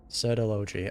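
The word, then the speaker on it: Surtalogi: Sertology. Okay, that's how you pronounce the name.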